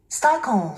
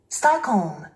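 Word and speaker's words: Stockholm: 스타콤. 스타콤. 스타콤. 스타콤. 스타콤. 우리 한국인들은 이 단어를 스톡홀름이라고 합니다. 스타콤. 스타콤. 스트레스가 맨 앞에 있죠. 스웨덴 수도인 스톡홀름을 원어민들은요. 스타콤. 스타콤.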